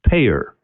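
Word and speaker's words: PAEER: for the model is p aeer five letters pronounced payer now hopefully you're getting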